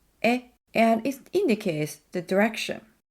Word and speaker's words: へ: When the へ is used as a particle, it's pronounced as え, and it indicates the direction.